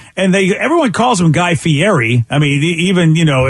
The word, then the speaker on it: Guy Fieri: think he called him Guy Fieri and uh nobody knows how to say his name but it really is Guy Ferry that's true what's false